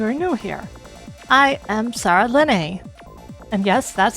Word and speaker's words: Saralene: So, for those of you who are new here, I am Saralene. And yes, that's how that's pronounced.